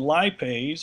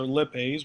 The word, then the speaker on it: lipase: low enzyme group called lipase or lipase whichever pronunciation you prefer releases the stored triglycerides